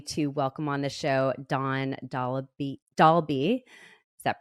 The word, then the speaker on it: Dawn Dahlby: I am so happy to welcome on the show Dawn Dahlby. Is that pronounced right?